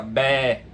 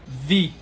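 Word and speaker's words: βῆ: Contudo, se você for comparar com o grego moderno, o grego atual, a pronúncia desse som seria vi. Ou seja, o beta é pronunciado como som de V, mais ou menos como o inverso do espanhol, né? Que pronuncia o V como som de B. E o eta seria pronunciado I.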